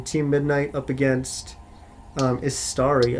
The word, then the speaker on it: Istari: midnight up against um istari i believe is how you pronounce it and they are the